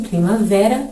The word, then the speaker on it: primavera: Em primavera, o vé, a sílaba vé é a sílaba tônica, logo temos a palavra paroxítona.